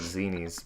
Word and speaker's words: Zenny: I've always called it Zenies, but Zenny. Oh, Zenny. Yeah. I call it. Yeah, I go with Zenny.